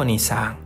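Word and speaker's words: おにいさん: ini, N-nya ini, sehingga onisang. Oke ya? I bertemu itu ya seperti ini. I yang pertama adalah dari huruf ni. Oke ya? Nah, pelafalannya gini minasang. Onisang, onisang, onisang.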